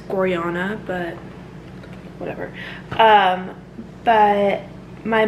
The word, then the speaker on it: Gorjana: like the mall nearby if you've never heard of gorjana i think it's pronounced goriana but whatever um but